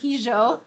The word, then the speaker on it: hijo: So I do, when I do workshops, I always have to tell people, no, I'm not mispronouncing the word hijo. I do say the J.